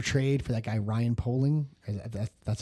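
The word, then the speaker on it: Poehling: So, Zebras was another trade for that guy Ryan Polling.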